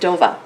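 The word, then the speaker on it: Dover: in Massachusetts oh we actually uh lived in dova do d o v e r but it's pronounced DOA if you live there all right so we're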